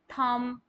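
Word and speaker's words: thumb: तो आप बी के साउंड को वहां पर साइलेंट कर देंगे कम थम नम राइट प्लम जो कि पानी वगैरह टंकी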